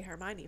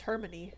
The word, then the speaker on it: Hermione: I also thought I didn't know how to say Hermione for the longest time I thought it was hermony so there's that Sarah